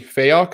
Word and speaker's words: Fayock: I have Joseph Branch and Fayok, if I'm pronouncing that right.